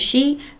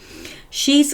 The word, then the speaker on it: Xi: think X I in in Mandarin is some pronounced XI I believe Trump and she then dined in the